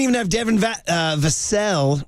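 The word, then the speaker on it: Vassell: have Devin VA uh vasel rhymes with Sam casselle vasel didn't play he's like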